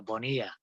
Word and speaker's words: Bonilla: pronounce your last name vanilla or how do you say that uh the double l is kind of pronounced like a y so it's a bonilla okay boy it's more